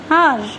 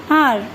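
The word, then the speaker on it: hour: Before a silent H, for example, I will meet you in an R. H is silent here, so the sound is vowel sound. I will meet you in an R.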